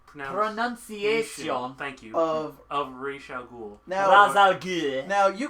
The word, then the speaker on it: Ra's al Ghul: And Brent and John were arguing for at least half an hour about the proper pronunciation. Thank you. Of Ra's al Ghul.